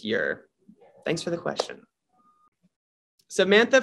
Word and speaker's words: Ure: least close enough but my actual last name is ure pronounced year thanks for the question